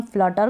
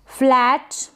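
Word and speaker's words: flat: से प्रैक्टिस जरूर करें फ्लैट इसको फ्लैट पढ़े फ्लेट ना पढ़े इसको फ्लैग पढ़े फ्लेग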